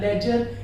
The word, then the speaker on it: ledger: LEDGER, लेजर, डी को हम pronunciate नहीं करेंगे, ऐसे कंडीशन में आप याद रखिएगा।